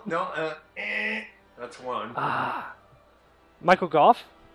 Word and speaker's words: Gough: go Michael C yeah it's like you know in the English Lang there are like five ways you can pronounce o u g h there's and this one is like cough with a G now hopefully you don't